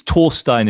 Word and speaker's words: Thorstein: I think it's torstein in the original Norwegian but I think most